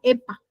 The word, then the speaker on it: HEPA: Recuerden que es una campana de bioseguridad o con filtro EPA, ¿sale? EPA significa, se escribe HEPA, lentes de seguridad, mascarilla,